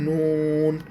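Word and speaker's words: نون: আর উপরে যদি নোক্তা থাকে তখন অক্ষরের নাম হবে নুন।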